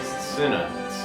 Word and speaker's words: Cinna: Is it Cena or Cinna? Like, it's spelled like Cinesticks. It's like Cinesticks, yeah, it's like Cinna, it's like cinnamon.